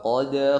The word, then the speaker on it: قد: Kemudian wa qad ya, huruf qaf tebalkan. Qad ada pantulan sifat qalqalah di situ, huruf dal, dan pantulan di dal di sini tidak tebal tapi tipis. Wa qad d, bukan seperti huruf qaf atau huruf ta, taqo, ato.